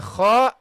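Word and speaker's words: خ: The kha is the heavy letter. So you got all the other letters are soft letters. Only the kha is a heavy letter, okay? Should be pronounced heavily.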